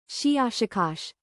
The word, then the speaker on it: Shiashikash: Something like Shiashikash, with a very, very strong pronunciation of the shish and k sounds.